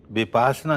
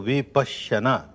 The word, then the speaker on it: विपश्यना: उच्चारण नहीं कर पाते विपासना कहना बिल्कुल गलत है संस्कृत में समझे तो विपश्यना पचना कहते हैं देखने को विपश्यना विशेष रूप से